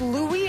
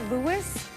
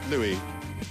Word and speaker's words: Louis: at this point I so it's pronounced Louie and not Louis yeah Louie okay so Prince George